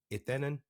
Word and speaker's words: Etenon: Etenon. I believe that's how you say it in Spanish.